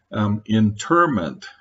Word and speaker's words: interment: I'd gone through most of my life not knowing that internment with a second N means being imprisoned. Interment is actually how it's the word's pronounced for the act of burial.